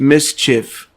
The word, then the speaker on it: MSCHF: collective art collective uh mschf pronounced mischief created oil paintings of